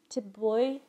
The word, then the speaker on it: Thi Bui: I actually Googled it and tried to pronounce it. It's Thi Bui.